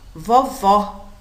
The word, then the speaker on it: vovó: é mais fechado e observem vovó o som é aberto vovô o sonho mais fechado o tanto acento agudo